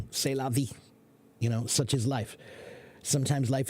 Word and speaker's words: c'est la vie: I'm not a French teacher, but I know how to pronounce that. C'est la vie.